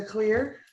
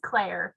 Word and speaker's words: Claire: Miss Clear, or Clark, I'm sorry, I just messed your name up. You may have to pronounce it for me. It's okay. It is Claire.